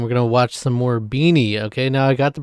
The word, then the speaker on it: BINI: was a moment where I did say uh, beanie. Uh, and that's okay. I just want to make sure I get the pronunciation right.